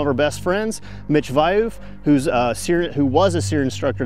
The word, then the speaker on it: Wiuff: Wiuff. Wiuff.